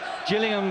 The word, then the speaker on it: Gillingham: from Gillingham Dorsett he's in the place with the soft G today Gillingham Kent and a special day